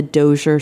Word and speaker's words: Dozier: Is that how it's pronounced? Dozier? Dozier? That's correct. Dozier.